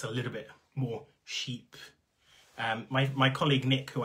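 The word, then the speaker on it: chypre: of this genre so technically it it's kind of if you say in french and my french is terrible you're almost kind of saying sheep but there's kind of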